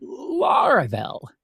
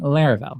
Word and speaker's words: Laravel: when people heard the word they called it LEL not laravel and actually some people still do today but trust me the correct pronunciation is Lar uh but yeah back then